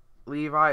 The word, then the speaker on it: Levi: Although I knew it was Levi, it's just that sometimes people pronounce it Levy, so sometimes I get confused on which one they want it to be pronounced.